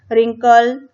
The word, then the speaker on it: wrinkle: अब इसमें जो फर्स्ट WWW लेटर, जो फर्स्ट लेटर है वो क्या है, साइलेंस है, ठीक है, वो साइलेंट है। इसको आप जब बोलेंगे तो आप क्या बोलेंगे, रिगल्ड, रिंकल और राइट बोलेंगे, ठीक है। और W का साउंड नहीं आएगा।